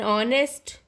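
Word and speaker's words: honest: dash और N honourable, an ऑनेस्ट, ये सारे के सारे जो हैं यहाँ पे साउंड जो है अ की आ रही है, ना कि एच की, मतलब अ जो है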